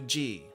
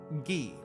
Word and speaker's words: ぎ: がが 10 marks can be added for gi to make it sound like gi. Not G, not G, but gi, as in geek.